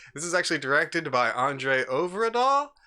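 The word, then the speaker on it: André Øvredal: This is actually directed by Andre Overdahl, I believe it is pronounced, and it's executive produced by Guillermo del Toro.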